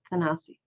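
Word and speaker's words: Thanasi: name how would you say his first name tanasi okay that's what I go with too that's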